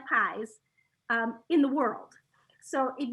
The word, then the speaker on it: Pies: just google me pies spelled pies i always say it's spelled like pies like pumpkin pies it's pronounced like peas like peas and carrots that's awesome i like